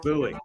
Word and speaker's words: Bowie: How do I pronounce this? Come on in. It's Bowie.